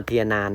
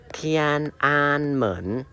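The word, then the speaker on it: 天安门: อะไร อย่าง นี้ นะ มัน ไม่ เอา เทียนนาน นะ แต่ คำ นี้ พอ ใส่ เครื่อง ใหม่ ขั้น ปุ๊บ เรา ก็ จะ รู้ ว่า โอ๊ย มัน คน รับ พยางค์ กัน ซึ่ง มัน จะ อ่าน ว่า เทียน อ่าน เหมือน เทียนอันเหมิน ซึ่ง มัน เป็น สถาน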